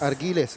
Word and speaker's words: Argiles: Argiles. Ano ba talaga ang pronunciation ng pangalan nitong batang to? Argiles. Argiles, ano? Because it's UI, so Argi. Yun, Argiles.